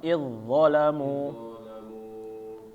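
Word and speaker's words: إِذْ ظَلَمُوا: za mati ketemu dho, maka yang dimunculkan hurufnya adalah dho-nya ya, Bapak-bapak, jangan za-nya. Jadi ketika mengucapkannya langsung tebal ya, jangan idzo. Nah, karena kita lihat di sini ada za-nya, jadi kita mengiranya kita baca za-nya dulu. Nah, ini keliru ya, tetapi langsung masuk ke dho, dan dho ini huruf tebal, maka ditebalkan ya, Bapak.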